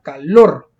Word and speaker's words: calor: Es una palabra aguda porque lleva la mayor fuerza de voz en la última sílaba, calor, al final.